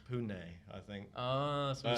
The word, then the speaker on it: Pune: Or I think, as I now heard, it's Pune, I think.